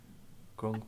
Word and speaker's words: grung: Grung bad. They poisonous. Can we spell that?